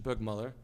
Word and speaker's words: Burgmüller: So there's going to be a masterclass on the Burgmüller, or Burgmüller, I guess is the better pronunciation, Burgmüller.